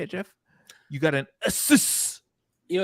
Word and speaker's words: Asus: You got an Asus.